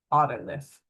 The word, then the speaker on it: otolith: Otolith. I've heard it pronounced oolith or oolith, those are fine, too.